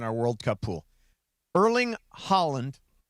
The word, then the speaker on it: Haaland: Erling Haaland. Say it like the country, but it's spelled a little differently.